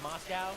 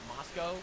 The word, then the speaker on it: Moscow: It's pronounced Moscow, not Moscow.